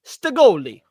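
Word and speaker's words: Stagolee: However, you're Italian. It should be pronounced Stagoli. Stagoli. That's good. Yeah, no, I do like Staggo Lee.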